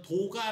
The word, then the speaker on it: Doga: 그리고 이쪽 은 , 음 , 우리 는 이걸 도가 (Doga) 라고 읽습니다 .